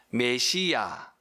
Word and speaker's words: 메시아: 뭐라고 번역이 되어집니까 뭐죠 메시아 메시아 메시아 이것이 히브리어의 원 발음이고요 이것을 헬라어로 번역한 것이